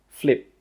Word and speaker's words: flip: With that final P sound, we stop the air from coming out. We don't say flip, no, we say flip, flip, egg flip.